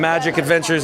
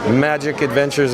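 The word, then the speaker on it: Majic Adventures: Magic Adventures, of course, is spelled MAJIC, and Adventures as normal.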